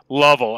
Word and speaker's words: Lovell: It's pronounced Lavelle, correct? Lovell, actually. Lovell.